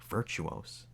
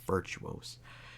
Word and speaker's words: Virtuos: by an external studio virtuos i think that's virtuos that's how you pronounce it i think established in